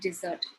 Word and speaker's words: dessert: So if I were to speak to someone and accommodate the wrong stress, the meaning changes completely.